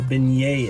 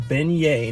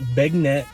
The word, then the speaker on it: beignet: out how many people don't know what a beignet is that's right it's pronounced beignet not big net or bag nut or anything it's beignet and they're very similar